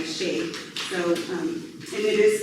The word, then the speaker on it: Shaia: So, this is why I go by Shay.